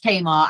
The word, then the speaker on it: Tamar: a lot and also I'm very offended by both your pronunciations of Tamar Bridge as a proud Cornish person it is very much Tamar and we hold that